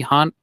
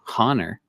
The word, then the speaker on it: honor: of sight and tonight we haunt oh honor silent h come on and tonight